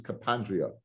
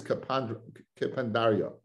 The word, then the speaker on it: kapandaria: I always used to pronounce this kapandria. It means a shortcut, but the word is kapandaria.